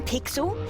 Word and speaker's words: Pixel: not weird guy I'm pixel it's easy to remember because it rhymes with pickle does I'm Foster I'll